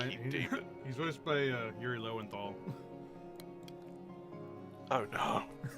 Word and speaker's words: Yuri Lowenthal: modern day fucking Yuri Lowenthal. Yep. Every time I say his name, I have to make sure to remind myself not to call him Yuri Lowell.